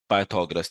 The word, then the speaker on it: Pythagoras: पर क्या है बेटा पाइथा गोरस भी पढ़ते हैं लेकिन असल जो होता है बेटा pronunciation that is पाइथागोरस theorem सही है लिखने में